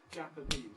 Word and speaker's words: Japanese: secondary stress if you like on and it's Japanese it's got two beats Japanese and the important